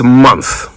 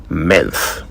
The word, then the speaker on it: month: It is month m o n t h not menth.